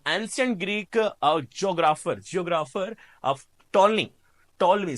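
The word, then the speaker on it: Ptolemy: The ancient Greek geographer of टॉलमी sorry क्या, टॉलमी, पी इज a silent, टॉलमी created a grid system of the world in his book geography.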